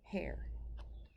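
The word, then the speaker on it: Herr: submarine and you heard that she called him hair Beethoven hair H grr and German means mister and it's pronounced hair even though it looks like it spelled her with an extra are terrible weather this morning mr.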